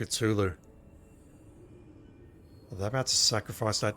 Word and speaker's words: Cthulhu: not using this door they pronounce it culu that about to sacrifice